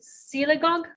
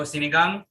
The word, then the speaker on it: sinigang: me what are some of so besides it's pronounced si siligog oh sinigang no not tanaka the the milk fish and